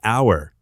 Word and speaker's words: hour: Consider the word hour. Although it starts with the letter H, the H is silent.